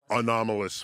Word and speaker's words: anomalous: what is it, unidentified anomalous phenomena. And who are they kidding? They're talking about UFOs. So, it's a 4-syllable word. You got to throw it in there.